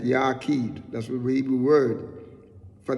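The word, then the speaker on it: yachiyd: w k h e e d so we pronounce it and it's made up of the hebrew word right yakid that's the evil word for the word only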